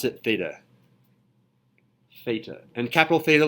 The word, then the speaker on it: theta: finally did it hitting Direction theta this is pronounced and I'll write it up here theta th ETA and it's up there behind you it's a